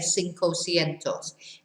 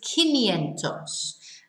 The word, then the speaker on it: quinientos: When you come to 500, you don't say cinco cientos. It's quinientos. And it's a QU, but it's pronounced a K.